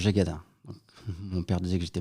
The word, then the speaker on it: Jégaden: la vérité c'est que je dis à tout le monde que je m'appelle jackaden mais si on va en Bretagne mon nom se prononce gadin mon père disait que